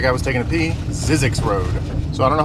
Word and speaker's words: Zzyzx: Road or if you want to say it phonetically I think that guy was taking a pee sizzix road so I don't know how well you